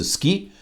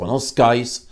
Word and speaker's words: skies: Zelensky a dit ski, qui se prononce ski, au lieu de skies, qui se prononce skies, c'est-à-dire S-K-I-E-S.